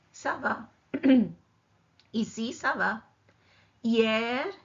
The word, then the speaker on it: hier: Hier, H is silent.